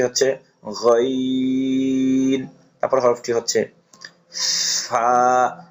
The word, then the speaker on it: ف: এই হরফটি উচ্চারণ করার সময় উপরের দুই দাঁত, নিচের ঠোঁটের পেট একবার উচ্চারণ, নিচের ঠোঁটের পেট, তারপরে আপনার লাগাইয়া নিচের ঠোঁটের পেটের সাথে লাগাইয়া উচ্চারণ করতে হবে, বাতাসও বের হবে।